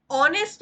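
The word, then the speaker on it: honest: और का प्रयोग करेंगे ऑनेस्ट में हा साइलेंट है और शुरुआत का जो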